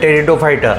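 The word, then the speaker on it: Pteridophyta: P silent टेरिटोफाइटा और इसमें बोलिए और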